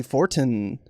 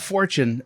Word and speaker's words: Fortin: Not forget Timothy Fortin. Left the E off, not Fortune.